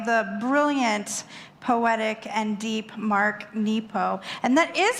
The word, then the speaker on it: Mark Nepo: to Listen, by the brilliant, poetic, and deep Mark Nepo.